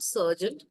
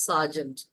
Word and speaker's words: Sergeant: is Sergeant at Arms it's not serent pronunciation is not Sergeant it's Sergeant Sergeant at Arms okay